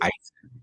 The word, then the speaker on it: Eisen: And just to get it straight, the correct pronunciation of my last name is Eisen. Sorry. E is Eisen, but that's all good.